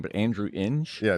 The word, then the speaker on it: Ng: I think we both took, I think I can't ever pronounce his last name, but Andrew Inge. Yeah, Ning.